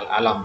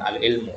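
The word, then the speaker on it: العلم: Ini bacanya al-alam bukan al-ilmu ya.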